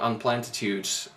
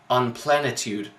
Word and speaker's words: Unplentitude: And so for some reason he pronounces it he pronounces it as Unplenitude. I was like, what? No, dude, you can't do that. It's unplentitude. There is a T in the middle of your own made-up word.